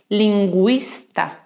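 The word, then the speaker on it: lingüista: an omelet for example in these words bilinguae linguista in these cases i am pronouncing the letter u because it has an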